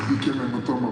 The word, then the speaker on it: Dikembe Mutombo: Pronounce that pretty close. Yes, it's Dikembe Mutombo, Polano Mukama, Dikembe Mutombo.